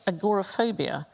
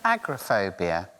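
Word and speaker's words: agoraphobia: Isn't it agrophobia? It Yes. It's not called agorophobia.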